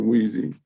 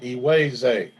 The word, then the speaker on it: Iweze: What about you, Weezy? Weezy? Professor Rob, it's pronounced Iweze. Iweze.